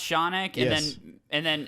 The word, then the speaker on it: Shaunak: It's pronounced Shaunak, Yes.